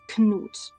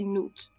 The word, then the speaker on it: Knut: and in this case, you can't get away with not pronouncing the K as you usually do in English with ni or night. In this case, you have to pronounce the K. It's Knut.